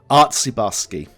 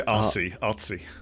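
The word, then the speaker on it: Artsebarsky: Artsibarsky. Yeah. Anatoly Artsibarsky. Don't say artsy. Artsibarsky.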